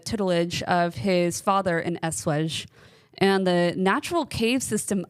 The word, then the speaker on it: Eschwege: How do you pronounce that? Eschwege.